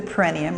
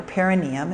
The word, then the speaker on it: perineum: Now from here, on your in-breath, from the awareness at the perineum or perineum, it's pronounced different ways.